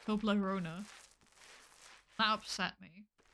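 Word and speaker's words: Toblerone: I also learned that it's not pronounced tolerone. It's pronounced Toblona.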